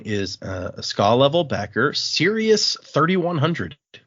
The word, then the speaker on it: Sirius: And the other one is a skull level backer, Sirius 3100. It's spelled like Sirius Black. Yeah, that's another name in Harry Potter. When I first read it, I I thought it was Cyrus just because I'd never heard the name Sirius.